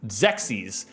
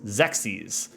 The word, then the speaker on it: Xexyz: It's Zexis. Like sexis but with an X. Zexis and they obviously dump